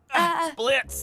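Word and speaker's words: Blitzø: Blitz, the O is silent.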